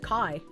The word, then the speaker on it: chi: Greek and the letter x which is uh spelled chi but pronounced kai.